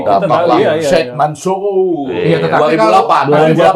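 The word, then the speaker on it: Mansour: Kalau Sheikh Di- Mansur, di- bacanya harus, di- bacanya harus Mansur. Mansur.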